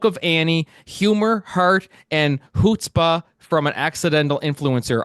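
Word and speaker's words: chutzpah: Annie humor heart and hootspa from an accidental influencer I said that word right did I oh you almost got it how do you say it because I was saying CH it's hutzpah it's Anish word that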